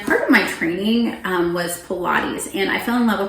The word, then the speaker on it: Pilates: They were pronouncing it pilots.